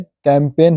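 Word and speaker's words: campaign: rule number छवा है यदि किसी शब्द में एन से पहले जी आए तो जी साइलेंट रहता है य साइन है एन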